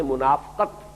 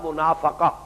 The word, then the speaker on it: منافقہ: جو ہے وہ بھی اگرچہ اردو میں ہم اس کو تلفظ عام طور پر کرتے ہیں منافقت، لیکن عربی زبان میں تو یہ گویا کہ اسی وزن کا لفظ ہے، باب مفاعلہ کا، مجاہدہ مقاتلہ منافقہ۔ اس مرحلے پر آ